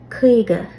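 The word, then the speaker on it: caoga: So you're gonna set out like you're gonna say quiga, but your lips are not allowed to move. So kriga, kriga. Now you got it.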